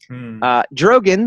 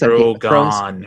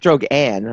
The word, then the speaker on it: Drogon: Drogon, the largest of Daenerys Targaryen's dragons. Drogon. What is with you in the name? Drogon. Drogon. Drogon? Drogon, not Drogon. Well, it's not Drogan.